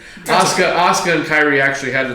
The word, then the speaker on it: Asuka: moved on before she came back um so Asaka or Asuka hope hope time pronounce that name ASA Asuka and Kyrie actually had the titles for 180